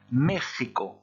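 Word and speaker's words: México: se prononcer encore différemment il va se prononcer mais ricco comme un gie ou comminges et espagnole mais ricco donc attention à ça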